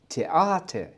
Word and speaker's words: Theater: Das Theater. نلاحظ نطق حرفين الـ A والـ R في نهاية الكلمة عبارة عن مقطع الـ A A، وشرحنا ذلك مسبقا.